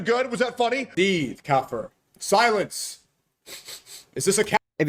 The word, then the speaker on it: kafir: Kafir. Bro couldn't even pronounce it right.